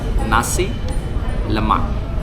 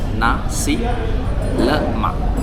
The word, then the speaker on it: nasi lemak: So the correct pronunciation is nasi lemak, you know. So the l is a l, it's not le, it's not li, is l. So nasi lemak. So the k is almost silent.